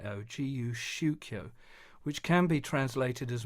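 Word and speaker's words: 自由宗教: basic understanding of something he called guu shio that's spelled j i Yu s h u k yo gu shio which can be translated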